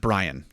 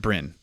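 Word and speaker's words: Bryn: just to be clear b-r-y-n that's how it's spelled and you would you would you would pronounce that brian brian you wouldn't pronounce that brin no man that's what's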